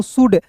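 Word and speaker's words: should: शुड शुड नहीं पढ़िएगा। तो यहां देखिए एस एच है। ओ यू है तो उ सु डी ड शुड एल का उच्चारण नहीं करेंगे।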